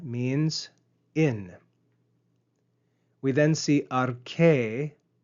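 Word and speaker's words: ἀρχή: We then see arche, note the circumflex accent at the end of that word, arche, rise and fall on that syllable.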